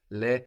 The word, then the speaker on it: les: l s for them pronounced Le but the S is popping up again activated by the vowel of at and that s between vowels sounds like a can I wait for